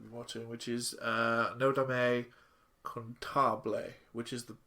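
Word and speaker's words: Cantabile: Let's go with the first anime that we're watching, which is Nodame contabile, which is the correct way to say it.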